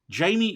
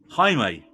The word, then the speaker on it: Jaime: So Jolo, he plays Jamie Reyes, but it's pronounced Jaime, right? Jaime Reyes.